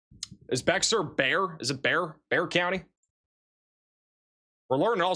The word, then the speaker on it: Bexar: Is it Bear? Bear County? We're learning all sorts of pronunciations here tonight.